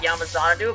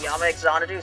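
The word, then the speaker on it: Yamaxanadu: I know it's pronounced Yama Zanadu, but Yama Exanadu sounds cooler, so I say that instead.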